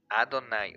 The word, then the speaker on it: Adonai: como Adonai y los estudios judíos realmente lo pronuncian adonay o sea Dios supremo señor o todo eso